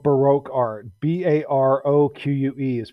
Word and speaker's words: Baroque: Baroque is pronounced Baroque.